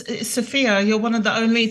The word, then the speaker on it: Sophia: pronouncing that correct it is sopia right it's sopia you're one of the only to pronounce it the right way the first time you're doing that you're doing great it's not Sophie it's not Sophia it's Sophia Sophia wonderful thank